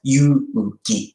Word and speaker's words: Yuki: In street Japanese, my name is pronounced as Yuki.